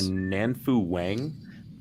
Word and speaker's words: Nanfu Wang: It is on HBO, and was it directed by Nanfu Wang? Thank you. Yes, that is her. It's good pronunciation there too.